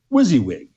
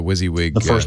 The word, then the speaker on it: WYSIWYG: he got it he so I think that's pronounced WYSIWYG uh-huh he probably was that was the first